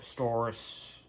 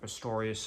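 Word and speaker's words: Pastorius: of funky album uh jacob storus or pistorius i think is how it's actually pronounced very uh legendary bassist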